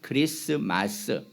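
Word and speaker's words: Christmas: 크리스트인데 그냥 틀을 발음을 빼버려요 그래서 크리스 이렇게 발음을 하는 것뿐입니다 크리스트 크라이스트 크리스마스 이렇게 크라이스트 예수 메시아라는 그리스도라는 말과 마스라는 말을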